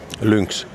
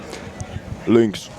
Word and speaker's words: Lynx: What's the correct way to pronounce Lynx? Lynx. Lynx. No, it's more of a lynx, isn't it? No, Lynx. Lynx. Lynx. Yes. Lynx. And it's very Finnish way is to add little I in the end.